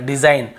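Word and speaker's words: design: पहले जी तो देखिए डिजाइन हम इसे क्या पढ़ रहे हैं डिजाइन डिजाइन डिजाइन ऐसे ग को नहीं पढ़ डिजाइन ऐसे नहीं पढ़ र ठीक है केवल डिजाइन यहां पर भी रिजाइन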